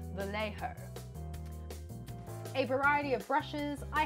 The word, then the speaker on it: Vallejo: I use the Vallejo brand, and thank you, Patrick, for correcting me on my very ochre Australian pronunciation when I said Vallejo instead of Vallejo.